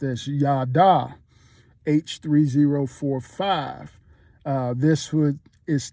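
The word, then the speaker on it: יָדַע: There's another word named uh it's pronounced as yada.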